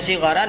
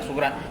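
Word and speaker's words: صغر: Kemudian sagura yasguru, sigaran, itu bacanya sigaran ya, bukan suguran, tapi sigaran.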